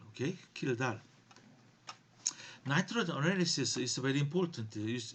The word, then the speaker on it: Kjeldahl: Okay, this one people pronounce Kjeldahl. Okay, Kjeldahl.